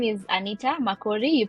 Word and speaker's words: Makori: to be here um my name is Anita McCory you pronounced it very well and I am from